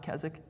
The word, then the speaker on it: Keswick: you uh if you're familiar with it it's k-e-s-w-i-c-k so a lot of people say Keswick Keswick theology but it's pronounced kazak okay so it's kazak theology or it's also